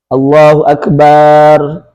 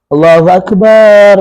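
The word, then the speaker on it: الله أكبر: Menambah alif pada huruf ba. Allahu akbar. Allahu akbar. Barnya panjang kalau di azan misalkan.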